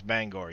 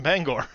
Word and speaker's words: Bangor: maine stopped bangor yup how did they pronounce bangor yes did they pronounce it banger main what's banger maine